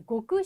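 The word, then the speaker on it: 極: 때 쓰이겠죠 그렇죠 예 고그 소스라고 고라고 읽어 주시면 돼요 이때는 자 극소수 그다음에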